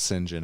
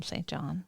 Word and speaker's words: St John: and I'm I'm sorry I'm going to call him St John you could but you'd be wrong his name is Gary St John nope it's singen last name unknown F